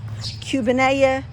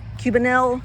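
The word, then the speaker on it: Cubanelle: Now over here I have Cubania, Cubania, Cubanil, depending on what level you want to pronounce it.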